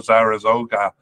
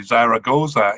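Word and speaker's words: Zaragoza: Spain uh but is currently on loan to Zara zoga H sorry Zara goza in Spain I'm mixing up my syllables here uh he was with Benfica in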